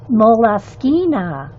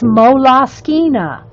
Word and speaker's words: Moleskine: I looked it up because, of course, I want to know. I looked up the Moleskine site and how they pronounce it, and that's how they pronounce it. And I did the audio, all of it. It's Moleskine. But if you want to call it a moleskin, I don't care.